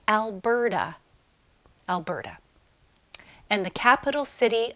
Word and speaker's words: Alberta: Alberta. Notice it's not pronounced Alberta. It sounds like Alberta.